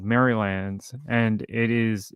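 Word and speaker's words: Merrylands: So, there's a suburb in Sydney called Mrylands and it is spelled differently to that.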